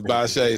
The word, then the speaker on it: Bashea: And like I said, I really didn't know how to pronounce his name. It's okay. Thank you. It's Bashea.